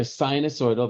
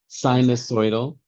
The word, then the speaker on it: sinusoidal: Either sinosoidal, that's what I normally say like your sinuses sinosoidal.